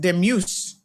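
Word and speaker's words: Dumus: Pronounced demuse.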